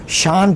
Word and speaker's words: SIAN: इसकी एक तंजीम है सियान, जैसे ये अपने प्रोनाउंसिएशन में शान पढ़ते हैं, SIAN, स्टॉप इस्लामाइजेशन इन नॉर्वे।